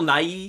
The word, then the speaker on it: Nighy: Bill Nighy, is that how you say his name? Yes. Is just awesome, and I would love to see that guy. Not Bill Nye. Not Bill Nye the Science Guy, No.